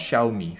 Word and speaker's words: Xiaomi: c'est pas le problème, mais ça se prononce Xiaomi, je suis désolé.